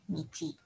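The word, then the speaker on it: 日: Kemudian hari Minggu, ini simbolnya matahari, dibacanya Nichi. Oke, kita ulang ya.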